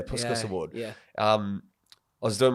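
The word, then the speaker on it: Puskás: it the puscas award how do you pronounce that yeah puskus yeah puskus award um I was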